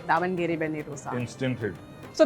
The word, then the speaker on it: Davangere: I hope I'm pronouncing that right. Davangere. Davangere.